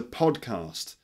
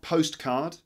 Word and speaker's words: podcast: podcast this is a podcast podcast all right not postcard this is a postcard look a postcard from Japan that's a postcard but this is a podcast look there it's written Ella